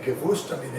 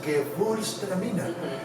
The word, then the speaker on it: Gewürztraminer: And so the real way of how to say it, the Gewürztraminer is how it is. The W sounds like V, so it sounds Gewürztraminer. Very phonetic, very German.